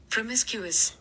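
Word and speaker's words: promiscuous: प्रोमी देखो इसकी प्रोनाउंसिएशन होती है प्रोमिसक्यूस। प्रोमिसक्यूस। ठीक है? एक बार और सुन लो। प्रोमिसक्यूस। प्रोमिस प्रोमिसक्यूस से होती है इसकी प्रोनाउंसिएशन।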